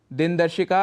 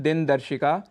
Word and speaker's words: दिनदर्शिका: है आकाशवाणी दिन दर्शिका दिनदर्शिका अर्थात कैलेंडर जिसका उच्चारण हम करते हैं दिनदर्शिका इसका शुद्ध उच्चारण है दिनदर्शिका और गणपति महोत्सव जो